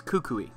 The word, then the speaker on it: Kukui: pronunciation of this because it's based on the tree it's Kukui Professor Kukui brought you along and